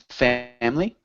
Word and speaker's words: family: Family? Family. Yeah, we don't really pronounce that I. Generally, it's just family, my family.